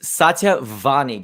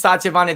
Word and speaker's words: Satya Vani: special guest today um it's satya vani did i say it correctly you said a great yep my name is because people get problems with miss sachavani they're like satia is it vanilla vanilla i like making fun of it too